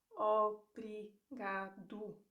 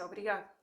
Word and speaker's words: obrigado: So one of them is O, and you have the typical example of obrigado, obrigado. If you're learning how to pronounce the word slowly, you will hear obrigado. That's one thing, but in real life, people will say obrigado. So you don't hear the end.